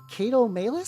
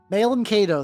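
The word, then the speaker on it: Malum Caedo: The like Kato Malus, something like that. Something like that. I forget exactly how his name is pronounced.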